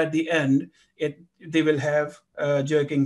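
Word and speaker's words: ح: Ha, which is very similar to jim, is a thick letter, and we have to pronounce it from the end of our throat.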